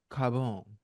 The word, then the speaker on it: Carbone: went to something called Carbone Carbone yeah say you gotta say it like you're Italian Carbone you gotta say